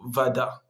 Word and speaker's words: вода: И мы читаем буквы О, как А, когда это не ударение.